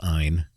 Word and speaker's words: Ayn: few different ways but i'm going with ein because it's ein and not an under last name rand